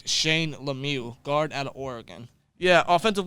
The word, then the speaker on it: Lemieux: I think it's Lemieux I think it's like the Penguins legend Mario Lemieux yes so now that they're not related I thought they were they're not they are pronounced the same Shane Lemieux similar to Mario Lemieux but yeah that's his